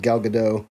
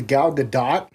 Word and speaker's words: Gadot: Would you rather her be Gal Gadot? I thought it was pronounced Gal Gadot. No, she came out in an interview and said that you do pronounce the T at the end of her name.